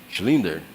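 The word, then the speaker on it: Schindler: Quem aqui assistiu o filme A lista de Slinder. Slinder. Slinder. Não sei como é se pronuncia. É Shi. Schlinder, Schlinder, obrigado aí.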